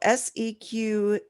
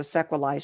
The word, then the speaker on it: sequelae: know what it is i mean it's latin so sequalize should be the proper pronunciation from the latin girl here yeah um